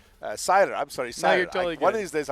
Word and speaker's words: Sailer: us, we have Seiler. Seiler. No, you're totally good. One of these days, I'll get that right. It's spelled one way, pronounced the other.